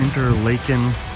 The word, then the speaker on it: Interlaken: bunch of little cabins so the interlaken that's how you say it this used to